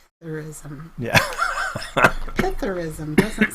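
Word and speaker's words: psithurism: No, I think the S is silent. So it's Pythurism.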